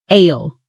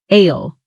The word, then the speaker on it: aisle: It sounds like sile, like a small island, but it's spelled a i s l e. Repeat after me. Ale. One more time. Ale.